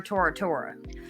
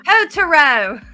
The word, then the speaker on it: Totoro: Now one movie that I wanted to talk about was My Neighbor Tora. And I did not get a chance to watch that. And I said it wrong again. My Neighbor Totoro.